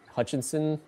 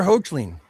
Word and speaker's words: Hoechlin: in certain light, it actually looks like Tyler Hutchinson or whatever his name is. The Superman actor. I can never say his name. Tyler Hoechlin.